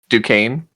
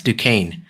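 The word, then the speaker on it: Duquesne: Um and another part of the town, Rupert Thorne and Carlton, how do you how do you guys pronounce his last name? Dukane. Dukane. Yes, Dukane.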